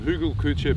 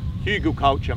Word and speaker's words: Hugelkultur: the Germans call them Hugo Couture beds but we're going to um it's probably going to be oh you don't pronounce it like that Hugo culture mate we're going to um